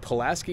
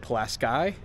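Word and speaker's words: Pulaski: the other thing is I think I said palaski New York that's because here in New York we have the palaski bridge well if you're from up there you pronounce it plasy and I don't want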